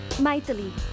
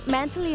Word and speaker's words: Maithili: Maithili. Oh. Abroad में मेरे नाम को अजीब से प्रोनाउंस करते हैं. मैंथली नहीं, मंथली वीकली ऐसा कहते हैं, इसलिए शॉर्ट फॉर्म में मीट बना दिया.